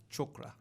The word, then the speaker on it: chakra: of the chakras, and they're actually pronounced technically chakra. Whoa. So all y'all Negroes out there were like, my chakras is And I underlined. was saying it for years. I went to a yoga seminar, and the true pronunciation of it is chakra. It sounds, but we westernized it, and Yeah, it's, right.